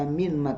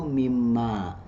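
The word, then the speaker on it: مما: dengan Ma ifham ya Nah nun mati ketemu dengan mim itu kan diidamkan maka bunyinya menjadi tidak dibaca Min Ma Tidak dibaca minim Ma tapi dibacanya itu mim ma ya mim Ma nah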